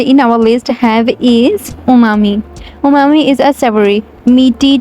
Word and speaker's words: umami: Most of the people pronounce this word umami. It's U silent and we can say umami.